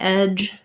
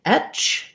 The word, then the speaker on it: edge: So for some people saying edge, they have a tendency to say it more like etch. The voice gets devoiced at the end. To overcome that, try saying edge of, and you can think about it like edge of. And then that will maybe help you get your j sound, edge of.